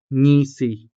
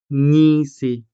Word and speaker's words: ngisi: Next we have ngisi. Ngisi, meaning to grin. So the consonant nga could also be followed by the vowel e, making the sound ngi. Ngi. Ngi. Ngisi. Ngisi. And of course, the consonant